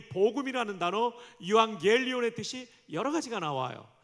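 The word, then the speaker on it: εὐαγγέλιον: 유앙겔리온. 정말 발음 찬양대가 대단히 좋습니다.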